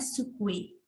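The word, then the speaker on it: つくえ: Jadi pengucapannya sukue.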